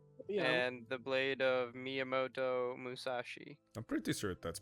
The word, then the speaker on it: Miyamoto Musashi: and the blade of Miyamoto Musashi. I'm pretty sure that's pronounced right.